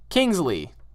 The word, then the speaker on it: Kingsley: Last week in your fan mail, you said my name wrong. Can you please call me Kingsley?